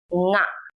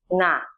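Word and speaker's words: င: The consonant nga, pronounced as its name, nga, is a nasal sound that you have in English gerunds or nouns like ring or sing.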